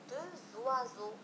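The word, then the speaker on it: deux oiseaux: لاحظوا نفس الشيء بالنسبة لي إكس، عندما سوف نقوم بلاليزون بالربط سوف نقول دو زوازو دو زوازو. إذا لو إكس أيضا ينطق ز عند لاليزون دو زوازو عصفوران أو اثنان عصافير عصفوران.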